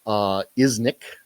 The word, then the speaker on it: Iznik: Iznik, I think is the way you pronounce it, is where it was minted.